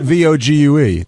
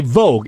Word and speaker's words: Vogue: What about Vog Ge? That one is okay. If a VU Well, right. If a magazine could speak, you would say it's they would say Vogue.